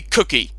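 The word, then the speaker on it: Cooke: Back at school, he used to always call me Cookie. Because my last name is Cook. And it's got a silent E at the end.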